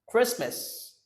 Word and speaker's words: Christmas: Christmas. Christmas. Christmas. You see the letters CH, okay? This is a digraph. Sounds like k, okay?